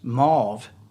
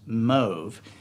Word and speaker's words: mauve: been saying for years mauve is not that's not a color the pronunciation is move with a long o and it was the